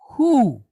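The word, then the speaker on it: הוּא: Now, aleph is what kind of a letter? A silent letter. So all it's going to do is kind of elongate the sound a little bit, right?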